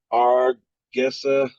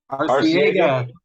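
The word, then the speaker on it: Arcega: Argega Whiteside. I can't even pronounce it. What's that? Arciega.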